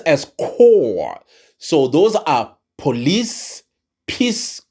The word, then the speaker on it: corps: But it's pronounced as corps.